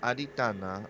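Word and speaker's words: Adhiṭṭhāna: in Buddhism uh I I think it's pronounced Adana but it means uh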